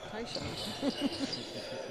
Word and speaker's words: Taishan: I knew how to pronounce his first name. But the announcers were pronouncing it wrong. The wrong vowels and everything, and everybody else. And I said, no, it's actually Taishan. So, and they were calling him Taishan for 3 years.